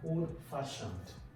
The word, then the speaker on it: old-fashioned: So you have old-fashioned. So where will the stress be? On the second word.